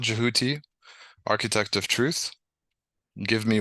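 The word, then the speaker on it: Djehuti: um but the but the original um pronunciation as jouti so I try to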